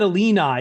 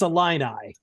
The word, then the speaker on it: Illini: I I said Elena you said a lean eye it's a line eye Illini then I'm sorry